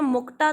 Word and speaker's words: मुक्ता: अब आप इसको इंग्लिश में मुक्ता थोड़ी पढ़ेंगे। अब क्योंकि ये हिंदी का शब्द है तो इसको हमने इंग्लिश स्पेलिंग में लिख दिया तो it will be pronounced as त, मुक्ता।